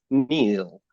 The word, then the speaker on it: Neil: and I realized that when I first said it it broke into um two syllables it was Neil and I was like that doesn't feel true that that feels broken it doesn't feel whole and and very kindly